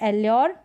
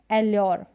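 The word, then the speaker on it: allure: फिर यहाँ पर है एल्योर, एल्योर, ठीक है, एल्योर फुसलाना। यहाँ पर भी यू आर ई, यू आर ई, यू आर ई, यू आर ई। तो इसकी प्रैक्टिस ऐसे कर सकते हैं, यू आर ई के कॉम्बिनेशन में यू को यॉ, यू आर ई के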